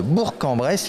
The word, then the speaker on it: Bourg-en-Bresse: bonjour bonjour qui est sur la ville de Bourg-en-Bresse il faut prononcer comme ça vous êtes chargé de la